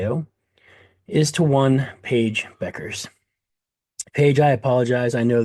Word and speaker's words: Bueckers: So, for the record, I do know it is not Bueckers, and I apologize for that. The two appropriate ways to pronounce her name, ladies and gentlemen, are Beckers and Buckets.